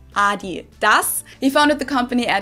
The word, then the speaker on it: Adidas: were referring to, because they usually pronounce it Adidas, and in Germany we say Adidas. Adidas, Adidas. Super different.